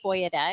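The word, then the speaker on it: Boia De: don't even know if it's confirmed that it's pronounced boy a day it is okay Alex and Lucia Lucia they're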